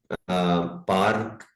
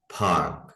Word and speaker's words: park: अच्छा, ये जो लफ्ज है PARK, इसको हमने पार्क नहीं पढ़ना और पार्क तो बिल्कुल नहीं पढ़ना, इसे हम पढ़ेंगे पार्क। ब्रिटिश स्टाइल में जो है वो आर बिल्कुल गायब हो जाता है, पार्क पार्क। और अमेरिकन जो है वो हल्का सा आर को पढ़ते हैं, फर्क फर्क।